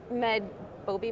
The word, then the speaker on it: MedBobi: So tell us about MedBobi, am I pronouncing that correctly?